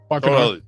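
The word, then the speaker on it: Bacanora: Barcanora, I've never had it. Am I pronouncing that correctly, by the way? Barcanora.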